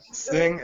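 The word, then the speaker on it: Singh: your last name or how do you pronounce it I sing s i n g h awesome man so you're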